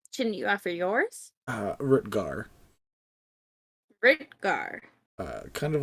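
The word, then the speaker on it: Rutgar: my last name shouldn't you offer yours uh rutger kind of like how it's spelled there except it disappeared are you two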